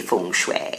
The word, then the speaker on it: feng shui: "No, Tom, it's actually Feng Shui."